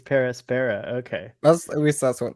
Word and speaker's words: Per Aspera: It's Per Aspera.